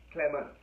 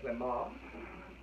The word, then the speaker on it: Clement: from my nation, and in my nation you pronounce his name Kim Clement. And in America you pronounce it completely different, because it's a French name, so it's Clement.